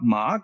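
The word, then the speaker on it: 骂: forth they're cursing each other and lower part mark gives the pronunciation if it is pronounced ma ma meaning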